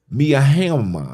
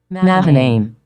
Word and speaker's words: Mahanaim: And he called the name of that place Miahama. I don't know how to say that word. Let me see it. Let me see how they say it. Mahanaim. Mahanaim. Right?